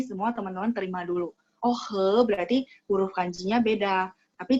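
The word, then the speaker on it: 喝: Kalau minum nada 1. He. Minum itu he nada 1.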